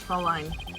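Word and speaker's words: Fräulein: I believe it's pronounced Fraulein.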